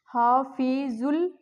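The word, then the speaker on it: حفیظ اللہ: हफीजुल। यहां पर भी अलिफ और लाम साइलेंट आएगा।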